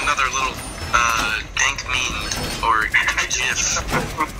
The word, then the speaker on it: GIF: I accidentally sent another little, dank meme or gif. 1 second. Why? Oh, Chase, you pronounced it the correct way.